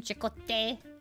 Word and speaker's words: Chakotay: I know how to say his name, Chakotay.